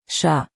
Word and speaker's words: chat: Chat. Don't say the T, just chat.